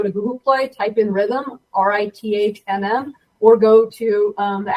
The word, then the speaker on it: Rithmm: So think algorithm with another M. That's kind of where Rithmm came from, and just getting into the rhythm of the sport.